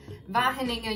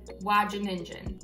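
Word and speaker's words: Wageningen: postdoc in the netherlands so it's at vaheninga university but if you're a native english speaker you would probably pronounce it like watch a ninja but long story short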